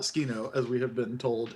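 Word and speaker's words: Tsukino: an calls her sukino and clearly pronounces it sukino three syllables not skino as we have been told it is properly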